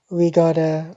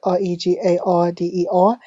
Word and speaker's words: regarder: Now, this end here is a consonant. In French, most ending consonants are not pronounced at all. Okay, so this is silent, right? This R here is what I call a dry throat R, and this middle one is called a wet front R.